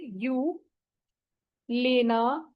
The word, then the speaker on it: Gyolena: इसमें जी साइलेंट है, वाई और ओ का आवाज जो है यू है। ठीक है, यू। ठीक है, गेओ नहीं है ये, यू लेना पारिया, PAREA पारिया।